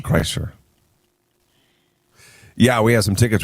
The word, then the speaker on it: Kreischer: Kreischer. We You- have some Bert Kreischer tickets. You always want to say Chrysler, like Chrysler, the car. yeah, That's no, what you keep saying. Kreischer.